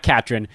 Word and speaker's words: Catron: Catron.